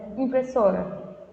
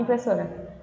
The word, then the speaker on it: impressora: Você fala bem rápido, impressora. Por mais que você fale rápido, a sílaba so, ela soa um pouquinho mais demorada, né? Ela se demora mais, ela se prolonga mais, porque ela é a sílaba tônica, tá bom?